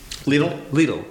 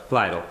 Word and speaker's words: Lidl: Lidl is going to go. Lidl. That whole area, that part of Lidl, I can remember how to pronounce it. Rhymes with needle.